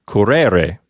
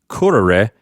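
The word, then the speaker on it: correre: syllable of the word so this is not pronounced karere it's not pronounced that way it's karere with the accent on the first syllable so that's a huge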